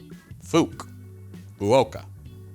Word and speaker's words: FUK: Fukuoka Airport is fuk so you pronounce it like Fukuoka fuk Oka admittedly that makes sense